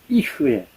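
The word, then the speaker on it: יִהְיֶה: 그게 1인칭은 에흐예고요. 3인칭은 이흐예. (1인칭은) 에흐예, 3인칭은 그래서 인칭에 따라서 조금씩 발음이 다릅니다.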